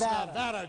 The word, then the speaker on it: Nevada: If I mispronounce it, I'm sorry. It's Nevada, George.